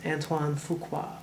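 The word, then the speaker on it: Antoine Fuqua: uh but his name is really fun to pronounce antoan fuka directed training day and if any of you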